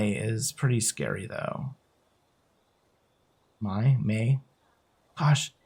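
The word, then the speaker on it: Mai: My May. Gosh, it's like I keep being told how it's pronounced and then I just keep forgetting. May, right? Like the month my is me. May is M AI.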